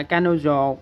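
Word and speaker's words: 彼女: Rồi tiếp theo, rồi chúng ta tiếp theo ha, nữ xô trong từ bỉ nữ á, đọc là kanojo, thì nữ này là một bộ thế bạn, thành ra mình cứ viết một bộ nó bình thường thôi.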